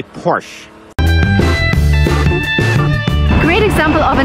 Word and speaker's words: Porsche: Because it's a German name, the stress goes to the first part of the word, and we say Porsche. Remember, never say Porsche, like never, boys.